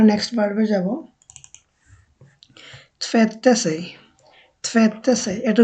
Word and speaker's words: tvätta: আর কি tvätta, তো এটা টি ভেত্তা হবে না, এটা হবে tvätta। আমাদের থ যেটা আর কি বাংলাতে আমরা থ বলি, যেমন থালা, ওই থটা tvätta sig tvätta sig tvätta